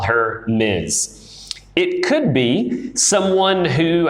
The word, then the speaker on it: Ms: at times okay we've got Miss we've got Miz and we've got Mrs so this one is pronounced just like it looks Miss and this